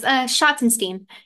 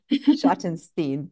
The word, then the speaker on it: Schottenstein: You're close. Schottenstein. Yeah. Schottenstein.